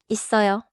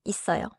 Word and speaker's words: 있어요: 있어요. The middle sound is strong, like 있어요. 있어요. Close briefly, then release into the strong sound before 어요. Now listen to 없어요.